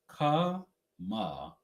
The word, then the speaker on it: Kamala: can't be that difficult Kamala kmaa that's how it's pronounced um she's not Indian